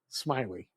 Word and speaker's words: Smillie: So for the folks listening out there, my name is Smiley, and my last name is spelled Smillie. It's like Millie with an S, but it's pronounced Smiley.